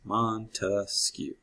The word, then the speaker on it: Montesquieu: us this idea so why do i say montesquieu well you get three branches monte skew three syllables three branches okay you can remember